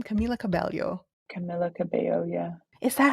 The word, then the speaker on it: Camila Cabello: don't love Camila what's her name Camila Cabello Camila Cabello yeah is that how you say her name